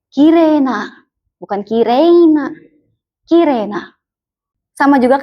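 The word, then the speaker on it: きれい: Jadi di sini meskipun penulisannya dia huruf I, dia fungsinya memperpanjang huruf E-nya. Jadi dibacanya kire bukan kirei.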